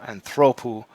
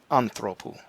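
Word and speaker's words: ἄνθρωπος: never have the accent so anthropo not anthropo so rule one accents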